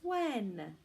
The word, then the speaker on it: when: spell it what mm we have a silent H so it actually looks like what hen but we don't say well hen mehendi did you come to my house we say when were hmm when what